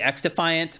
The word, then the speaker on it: xDefiant: Well, people are also confused on whether you actually pronounce it xDefiant or cross-defiant because the X in front of it is lowercase. Right. So I think it's actually xDefiant, but people are wondering.